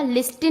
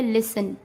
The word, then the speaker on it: listen: जैसे LISTEN, तो इसको क्या पढ़ा जाएगा? लिस्टन नहीं पढ़ेंगे, इसको क्या पढ़ेंगे? लिसन।